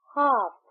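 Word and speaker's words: half: Silent है हां एच एच ए एल एफ हाफ यहां पे एल साइलेंट है।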